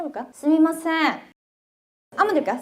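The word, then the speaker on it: すみません: 스미마생 한번 될까요? 스미마생 발음이 좀 불편할 때러면 스이마생이라고 해도 돼요. 미 대신 이로 발음해도 되거든요. 일본인들 요거 둘 다 씁니다.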